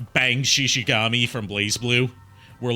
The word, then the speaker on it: Bang Shishigami: Sorry, I said his name wrong. It's Bang Shishigami!